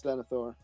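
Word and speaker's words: Denethor: get his mental deterioration is it denior am I saying it right it's Deni it's denior okay Deni Thor's mental deterioration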